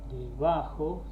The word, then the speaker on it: debajo: Debajo, ¿sí? Es debajo, no debajo ni debajo.